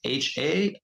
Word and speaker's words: Harriott: My last name is Harriott, spelled like Marriott, but with an H.